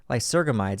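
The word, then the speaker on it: lysergamides: I'm very sensitive to lie circum ides I can never say it right like surgically surgeons lie surgham IDEs that's right it just sounds wrong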